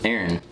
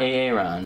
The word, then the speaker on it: Aaron: how do you pronounce aaron well surprisingly it's not a ron because key and peel